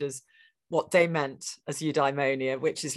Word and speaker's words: eudaimonia: the eight for the ancient Greeks it was eudaimonia yeah a little stress on the eye most British philosophers say you diemonia uh just traditional where pronouncing Greek in an English way uh eudaimonia would be the the normal way of saying